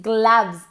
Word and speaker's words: gloves: Do you think these gloves, se escribe con una O pero se pronuncia como una A.